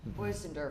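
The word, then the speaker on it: Bösendorfer: Bosendorfer. Bosendorfer, thank you. That's actually a very difficult name to pronounce.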